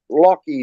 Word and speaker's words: Lachy: Lockie Dolly. It's spelled Lachy Dolly.